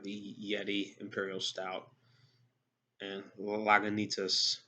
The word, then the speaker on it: Lagunitas: Of course, Guinness, and also we have the Yeti Imperial Stout and Lagunitas. Now I'm pronouncing it correctly, Lagunitas Imperial Stout.